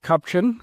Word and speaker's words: Kupchan: We have a special guest today, Cliff Cupchin from Eurasia Group. Uh Cliff, did I get the last name pronunciation right?